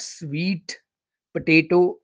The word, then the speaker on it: sweet potato: The third one is sweetpotato, not sweet potato, it's sweet potato, sweet potato, sweet potato.